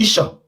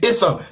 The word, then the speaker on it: Esan: The right pronunciation is ESAN, because the white people were pronouncing it because the first letter started from E. And in Edo language, there is nothing like E. It's A.